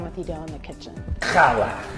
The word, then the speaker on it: challah: Challah. It is challah. I know, you're pronouncing the cha.